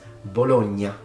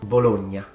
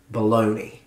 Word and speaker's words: Bologna: famous Italian northern city and the city is pronounced bologna bologna and depending on your accent the Nia sound can be stronger or it can be very gentle particularly in Northern accents but it's definitely not baloney the next one please get it right please